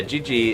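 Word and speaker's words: Jiji: to little creatures yeah Gigi is uh the name it's spelled j-i-j-i this guy was asking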